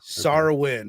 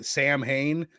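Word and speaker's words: Samhain: he did the yeah sarwin is how Sam Hayne there's no R there's no W there's no there's nothing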